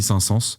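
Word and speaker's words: Saint-Saëns: le signe de Camille saint sens sa sens ça s'écrit sain comme un sain mais s a e n s sens c'est pas sens comme le sens allez écouter cette mélodie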